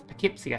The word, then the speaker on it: Poughkeepsie: It's Poughkeepsie, I think is how you pronounce that one.